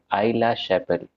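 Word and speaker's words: Aix-la-Chapelle: एक्सला चप्पल। चलिए दोनों गलत हैं। इस ट्रीटी का नाम है ट्रीटी ऑफ आइला शैपेल।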